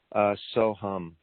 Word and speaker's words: Soham: And it's the mantra considered maybe the first mantra, Soham. And that's pronounced so and then like humming a song, hum.